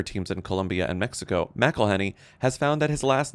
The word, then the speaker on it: McElhenney: It really is quite simple. Melhenny. But as more Better Industries has upped its global investments, including soccer teams in Colombia and Mexico. Melhenny has found that his